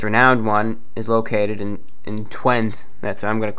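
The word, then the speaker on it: Twente: The most renowned one is located in Twent, that's what I'm going to call it. It's T-W-E-N-T-E, but I'm guessing it's pronounced Twent, not 20, but who knows, in the Netherlands.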